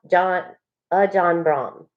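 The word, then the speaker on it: Ajahn Brahm: And it's pronounced John Brahm.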